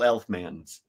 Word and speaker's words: Elfman: Yeah, there's the talent is in the very veins that courses through all Elfmans. Well, thank you, thank you, thank you. Absolutely. Am I pronouncing that right?